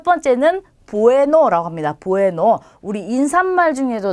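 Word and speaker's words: bueno: 자, 우선 첫 번째는 영어의 B와 같은 모양인 스페인어는 베라고 하는데 자, 이 친구는 비읍 발음이에요. 그래서 단어 어디에 오더라도 비읍으로 발음을 해주시면 돼요. 자, 그러면 이제 하나씩 읽어보도록 할게요. 첫 번째는 부에노라고 합니다.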